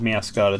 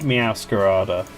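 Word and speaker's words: Meowscarada: So, where I don't think I have Mascara downloaded, so I'll do that now.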